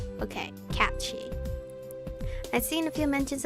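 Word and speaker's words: Cait Sìth: So this is pronounced cat. That's pronounced she? Okay, cat she.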